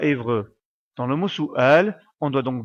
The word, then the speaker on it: سؤال: Soual on doit donc bien séparer les voyelles et ne pas faire la liaison comme si on prononçait la lettre waou la lettre wou n'est qu'un support à l'écrit et ne doit pas être prononcé on prononce donc bien ce mot Soual et non pas Soual qui ne veut rien du tout la lettre Hamza